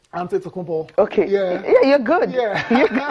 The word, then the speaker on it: Antetokounmpo: Pronounce this name. Antetokounmpo.